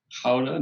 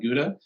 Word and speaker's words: Gouda: and i know that the city is actually pronounced howden not gouda and i like to